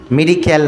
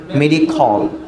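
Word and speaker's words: medical: মেডিক্যাল না, উচ্চারণটা মেডিখল।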